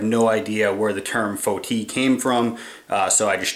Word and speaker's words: foti: You will oftentimes hear of it, especially in the West, referred to as foti or foti, and that's spelled F-O-T-I.